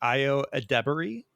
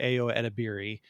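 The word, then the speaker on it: Ayo Edebiri: uh I saw a video on how to pronounce your name properly it's like IO ad debery um which I I had previously pronounced it AO edir uh but I believe it's properly pronounced IO adri um so I will do my best to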